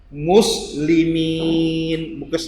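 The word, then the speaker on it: مسلمين: Jika ada ya mati, diawali dengan huruf yang berbaris bawah, maka ya juga menjadi vokal panjang, tapi vokalnya huruf untuk bunyi i. Muslimin, bukan muslimin, tapi muslimin.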